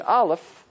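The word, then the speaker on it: אלף: Listen to how I pronounce an Aleph. Did you hear it? There's no sound.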